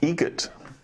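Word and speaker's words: Eget: Adam Egret. Egret. Spelt differently. Like the bird. That's Egret. Do you know what Adam Egret has in common with a guitar player? Adam Egret has in common with a guitar player.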